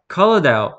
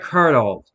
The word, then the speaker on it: colonel: I, for just a second, always accidentally pronounced how it's spelled. So I'm like, colonel. Oh, right, colonel.